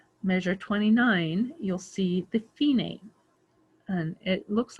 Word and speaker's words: Fine: then right before measure 29 you'll see the phenate and it looks like fine to you f-i-n-e but it's pronounced phenae and it means the end and that can